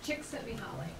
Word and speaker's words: Csikszentmihalyi: Christine, how do we pronounce his last name? Csikszentmihalyi.